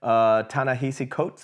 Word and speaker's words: Ta-Nehisi Coates: Ta-Nehisi Coates, I believe is how you say his name.